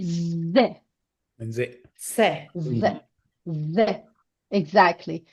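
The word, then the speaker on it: ذ: And if you put one dot above dal, so we have zal. We pronounce it ze.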